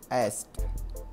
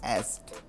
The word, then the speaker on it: asked: තියෙන ලේසි විදිය තමයි asked asked ඉස්සෙල්ල වගේම a ශබ්දේ තමයි තියෙන්නේ asked asked කියලා තමයි මේක ප්‍රොනවුන්ස්